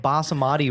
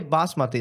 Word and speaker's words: basmati: literally can't pronounce any my girlfriend says like bah Samadhi rice and I laughed so hard and it's you can't say basmati like you can't say